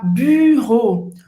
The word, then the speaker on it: bureau: Esse U, basicamente, a gente vai fazer a boca do U e falar I.